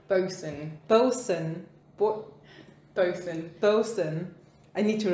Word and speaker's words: boatswain: i'm never gonna because every time i read that word i'm like both swain honestly i feel like most people don't know how to pronounce the word pronounced that way nobody cares no but it's important okay captain flynn and billy bones the ship's boson no yes the ship's